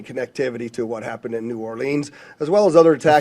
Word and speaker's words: New Orleans: We're absolutely investigating any connectivity to what happened in New Orleans, as well as other attacks. First off, it's pronounced Nolans.